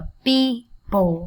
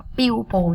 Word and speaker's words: people: Những từ này đọc là people, không phải là pupil nha các em nha.